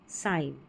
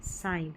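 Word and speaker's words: sign: जैसे नेट नो और साइन क्या है? साइन। तो यहां पर जो जी है ना वो साइलेंट है। यहां पर जी साइलेंट है।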